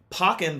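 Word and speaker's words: Pokkén: pocken tournament what see I always thought it was pronounced poken tournament yeah that's what I thought too and then I was watching uh a stream of people playing it and they pronounced it pocken tournament interesting I'm like what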